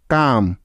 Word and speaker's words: coup: অনেকে এই শব্দটার উচ্চারণ আবার কাপবোর্ডও করে থাকে, যা সম্পূর্ণ ভুল বা রং উচ্চারণ।